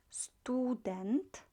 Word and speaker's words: student: this one then student make sure you're not pronouncing it it has student it's not stu but student and her would be